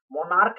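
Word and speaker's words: monarch: यानी कि उच्चारण है, वह होता है क का उच्चारण। जैसे मोनार्क, अस्टोमिक, अस्टोमिच, चा का उच्चारण नहीं देता है, अस्टोमिक।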